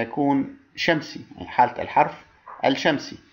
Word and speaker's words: الشمس: شمسي، يعني حالة الحرف الشمسي. عندما أقول الشمس فعليا ألفظ الألف فقط ولا ألفظ اللام، بينما عندما أقول القمر ألفظ الألف ومع اللام.